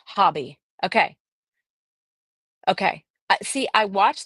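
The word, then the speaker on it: Hobbii: Somebody said Hobie is pronounced hobby.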